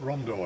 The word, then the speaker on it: Rondeau: Rondeau, eh? We pronounce it Rondeau, actually.